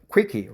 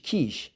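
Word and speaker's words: quiche: pain first there was a YouTube joke about Quicky right is a quish be careful with the pronunciation quish can refer to quish not Quicky right k k okay not quish Kish Kish Kish baked Cur pie baked C Kish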